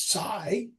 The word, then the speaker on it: psi: The Greek letter that actually is spelled PSI, but the easiest way to say it is sigh and describes.